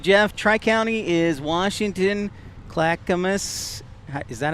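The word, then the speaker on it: Clackamas: Tri County is Washington Clackamus. Is that how you say it? Yeah. Clacamus.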